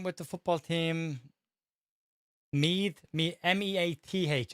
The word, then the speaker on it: Meath: M-E-A-T-H. I say Meath because that's how we pronounce it.